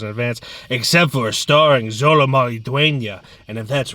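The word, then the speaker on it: Xolo Maridueña: how to pronounce Zolo Maridueña.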